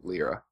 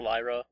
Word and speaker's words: Lyra: Am I the only one that thought it was pronounced Lyra? Well, it's Lyra because the name comes from lyre, which is a type of harp.